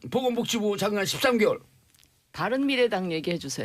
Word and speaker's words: 바른미래당: 밤이당. 발음 잘하세요. 밤이당 돼요 잘못하면. 아니 뭐 글자도 몇 개 안 되는데 풀로 불러주세요. 예. 바른미래당.